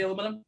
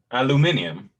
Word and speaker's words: aluminium: a something in europe say aluminum it's totally different aluminium something like that yeah i believe it's aluminium yeah um that's how they pronounce it there uh but